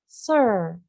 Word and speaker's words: sir: Nah, jadi biasanya bisa disingkat dengan Sir. Sir tulisannya S-I-R, bacanya Sir.